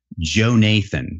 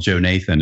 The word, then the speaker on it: Jonathan: was a snitch, and he preferred to be called Joe Nathan. It's spelled Jonathan, but he preferred to be called Joe Nathan.